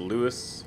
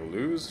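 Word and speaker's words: Lewes: it was Adam that told me how to pronounce the name of this town it's Luis hopefully I'm assuming because I'm the last video I was like lose Loes lose so maybe it's straight to run it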